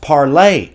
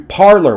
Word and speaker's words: Parler: about it is hilarious it was originally pronounced parlay the french pronunciation but when the scholars who they purposefully market themselves to refuse to do that it was changed to parlor which is of course